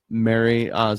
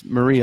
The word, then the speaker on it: Marie: Nutrisystem from our friend Mary Marie Osmond not marry Marie Osmond no